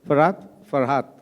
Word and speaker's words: Farhat: Okay, Farhat, right? Is that the right way of pronouncing? Right. Okay, super. Because you said Far and Hat, so like Farhat.